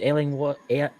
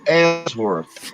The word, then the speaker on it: Ellsworth: have a special guest, Ellingworth. Did I pronounce that right? Did I butcher your name like I butcher everybody else's name? It's all right. It's Ellsworth. Ellsworth.